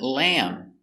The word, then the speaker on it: lamb: Let's practice the pronunciation of these words. Example, we see the word lamb.